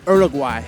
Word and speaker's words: Uruguay: my first time in Uruguay now the locals pronounce it Uruguay so I'm going to